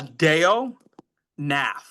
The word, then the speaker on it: Deonath: Uh Deon Nath.